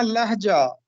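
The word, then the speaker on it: لہجہ: यह ल लहजा नहीं लाम पे जबर होता है और जीम प भी जबर खती बाना लहजा हम इसको लहजा पढ़ते हैं जी खती बाना लहजा और हे जो है ना उसको प्रोनाउंस ज्यादा भी नहीं करना होता खती बाना लहजा अच्छा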